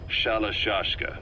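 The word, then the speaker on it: Shalashaska: Someone must have known about that, because somewhere along the line, Shashka got stuck on the end of Sharashka. The guerrillas were using the name amongst themselves, and by the time I got to hearing about it, pronunciation had wound up as Shalashashka.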